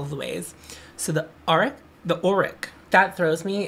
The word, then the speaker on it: Auric: So the auric, that throws me. It's AU, and like in English, auric. This is like auric is what I want to say, but it's auric.